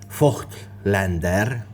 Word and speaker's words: Voigtländer: in arms about it I know full well this is pronounced F Lander but I'm not a psychopath so I'll just call it the void Lander or simpler yet this